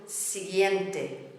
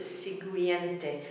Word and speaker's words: siguiente: A lot of people mispronounce it siguiente, but the U is silent. It's there to make sure that the G is not pronounced H.